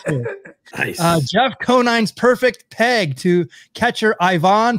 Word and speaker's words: Conine: It's Jeff Conine the Barbarian to you, sir. Conine.